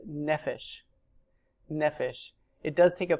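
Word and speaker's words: נפש: It's nefesh.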